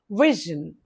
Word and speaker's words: vision: Okay, two syllables stress the first syllable is stressed. Vision vision we is stressed.